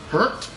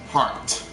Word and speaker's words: H-RT: is her name pigmy pronounced in two ways as you see in the in the description I mean that's pretty nice title it'd be pronounced as hurt or heart so do that as